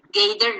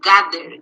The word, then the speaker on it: gather: take place gather no sometimes students say gator noise gather gather gather tradition compete price here